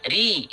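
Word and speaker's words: رِ: Maka ro-nya dibaca ri. Tapi hati-hati, ro berharokat kasro itu dibacanya tipis. Ya, karena nanti ada ro yang harus dibaca tebal.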